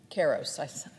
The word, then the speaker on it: Karos: Karos. I said his name wrong, and I don't want to do that